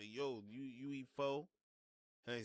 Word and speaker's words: pho: Don't be correcting me about pho, or pho. It's pho. Pho, pho. I don't care how they say it in Vietnam. I'm not Vietnamese. I say pho, not pho. I say pho, and I'm nice with it.